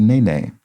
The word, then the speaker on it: nene: viewers the state board of hawaii is the nene and would be properly spelled with the bar mark above the e but